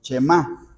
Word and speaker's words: Shema: Y Shema es porque el verbo oye se pronuncia así, Shema, ¿sí?